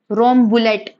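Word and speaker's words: Rambouillet: वो है रोम बुलेट रोम बुलेट कैसे प्रोनाउंस करते इसको रोम बुलेट और स्पेनिश मेरिनो यह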